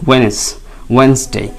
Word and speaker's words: Wednesday: আসলে এখানে এই ড সাউন্ডটাকে আপনি একটু সাইলেন্ট করে দিয়ে বলবেন, তাহলে বলতে কমফর্ট ফিল করা যায়। তাহলে ড সাউন্ড বা ডি যদি না থাকতো তাহলে কিন্তু ওয়েনসডে ওয়েনসডে ওয়েনসডে ওয়েনসডে।